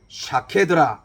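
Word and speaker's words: שָׁקֵד: 첫 번째 나오는이 살구나무는 샤케드라 이렇게 우리가 부르게 되고 살구나무와 똑같은이 자음을 가진이 쇼캐드라고 하는이 히브리어에 지키다 지켜보다라는 그 뜻은 모음이 붙어서 속해들하고 명명을 하게 됩니다 그러니까 샤캐드 쇼캐드 발음이 매우 유사합니다 자음은 똑같습니다 자 이것은 결국은 하나님께서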